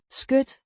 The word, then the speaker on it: skød: Skød. Means lap or bosom, pronounced Skøth.